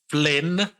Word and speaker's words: Flynn: I am one of your hosts, Flynn.